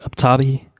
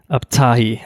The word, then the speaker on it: Abtahi: Omid Abtabi, I'm sorry, I fucked that name up. I pulled Oh an my Andrew god! right there. What? Omid Abtahi, I believe, is the pronunciation on that. He has been an American